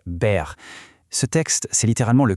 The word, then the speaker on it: Baer: Baer et au passage, la prononciation exacte est Baer.